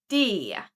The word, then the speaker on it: det: When you speak fast, usually the t at the end disappears. So it sounds like det. Det becomes det.